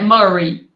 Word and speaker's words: Murray: atrás eu acho que muray muray que fala não sei como é que pronuncia enfim eh sem murai muray enfim é Murray Murray Ok eh você já